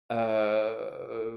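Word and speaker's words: へ: wo qu'on prononcera o la particule he que l'on prononce sera e on verra tout ça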